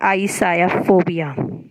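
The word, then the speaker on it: ichthyophobia: ये अब जिसका जो राइट प्रोनाउंसिएशन होता है वो यही होता है, आईसायाफोबिया, ठीक, यानी कि फिश।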